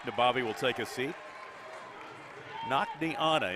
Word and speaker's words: Nakniana: Nakniana, interesting name. N-A-K-N-I, Nakni. Anna, A-N-N-A.